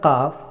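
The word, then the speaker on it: قاف: The letter of qaf pronounced from extremely back end of the tongue and upper palate.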